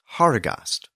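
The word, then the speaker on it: Harigast: the first eight letters spell a Germanic name horos and it's spelled h a r i g a s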